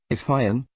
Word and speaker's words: Fionn: Patrick chapter if I am pronounced to rhyme with June got his first training